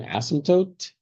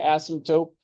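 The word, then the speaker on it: asymptote: There's a silent P in there. Please don't say astope like telescope. Isotope like isotope that that's fine to have the P there but it's an asmtote with a T at the end please.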